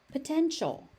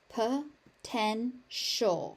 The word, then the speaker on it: potential: Positive positive potential potential. That ti becomes a shh sound.